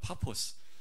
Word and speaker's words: 파포스: 지나서 바보에 이르러 이 바보는 요 원래 발음되는 파 퍼스 라고 합니다 파포스 그런데 한국 말로 할때